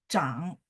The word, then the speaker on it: 长: Ya, kalau dia sebagai fungsinya sebagai bertumbuh atau grow, maka dia bacanya zhang. Tapi kalau misalnya panjang, dia juga hurufnya sama, tapi bacanya chang, kayak changcheng, tembok Cina.